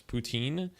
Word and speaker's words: poutine: Yeah, so the English pronunciation is poutine, but the French pronunciation is poutine. We said poutine. That's how we pronounce it. Poutine. You know, it's like poutine, like a TS.